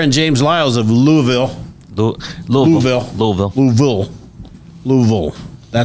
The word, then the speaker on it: Louisville: Louisville. That's how you say it if you're from Louisville. Yeah, I'm not from there. You say oil.